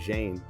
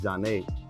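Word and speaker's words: Zhané: I remember they was getting tight because people didn't know how to pronounce their name right. Zhane, they were saying Zhane. It's Zhane.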